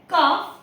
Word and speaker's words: calf: इसी तरह से जब भी एफ के पहले भी एल आए तो भी वो साइलेंट माना जाता है। जस्ट लाइक CALF काफ, HALF हाफ।